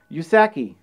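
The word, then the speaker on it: うさぎ: believed to be because in japanese rabbits are pronounced yusaki and if you split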